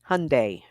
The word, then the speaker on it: Hyundai: name it's hundy see I was told like uh hot fudge Sunday Hyundai yeah no they um